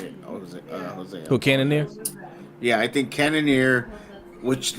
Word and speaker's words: Cannonier: Like, but that's what I'm saying with this guy that fought tonight, and again, I can't pronounce his name. Cannonier. Thank you, Cannonier.